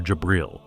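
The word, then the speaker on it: جبريل: Meanwhile, in Islam, Gabriel, or Jabril, as it is pronounced in Arabic, has a much more prominent role in it.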